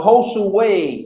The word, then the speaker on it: Josue: So Josue is how you say his name.